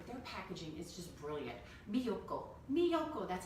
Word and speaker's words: Miyoko: Miyoko, that's how you say her name.